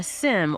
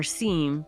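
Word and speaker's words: SIEM: A SIM or SEAM, depending on how you want to pronounce it, is a security information and event management tool.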